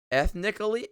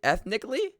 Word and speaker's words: ethnically: Eth ethnically. Ethnically. Oh, why is there an A there? The A is silent.